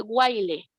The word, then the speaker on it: while: While se escribe while, así se escribe, pero se dice while.